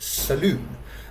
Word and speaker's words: salon: or a hairdressers but here in India they will pronounce it Saloon now sometimes it is